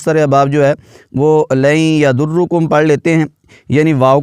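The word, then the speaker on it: لن يضركم: کا درست تلفظ ہے۔ یہاں پر نون کو یا میں ملا دیا گیا ہے، حروف یرملون ہے، تو یہاں پر ادغام میں یرملون والا قاعدہ، یہاں پر غنہ کریں گے، لن یضر، را پر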